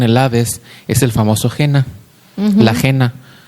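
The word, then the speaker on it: Gehena: Cristo lo llama Gena. G e h e n a. Gena. Y parece que se pronuncia en hebreo, disculpen mi hebreo, Yeva.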